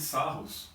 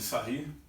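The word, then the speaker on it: Sarrus: Determinante de ordem 3 você pode fazer simplesmente pela regra de Sarros, ou de Sarri, da maneira que você preferir pronunciar, tá?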